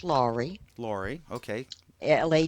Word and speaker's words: Lawrey: introduce yourself I'm lri it's actually pronounced lri lri okay La a w like law and